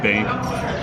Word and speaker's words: Bxnk: So it's pronounced bank.